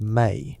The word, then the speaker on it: me: The mi pronounced may, a Sumerian word that defies